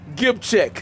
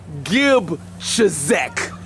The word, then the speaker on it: Gebczyk: When you grow up, you can unsilence the Z. You can start pronouncing it Gebczyk. Okay? Yeah. Listen, say Gebczyk.